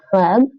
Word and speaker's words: хлеб: Хлеб. Хлеб. The ch is very much like in Dutch with the G, and actually it's more like a CH.